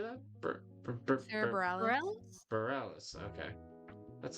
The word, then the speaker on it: Bareilles: Sarah Bareilles?